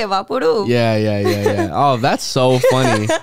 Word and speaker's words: VapoRub: we've been, whether you say Vaporub or Vapor, well, if you say Vapor Rub, actually, there's not an extra R.